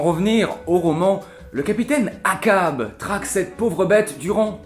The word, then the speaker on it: Achab: Oui et finalement comment est-ce qu'on prononce ce nom du fameux capitaine Achab ? Cab Akab, je viens de le Grenigo.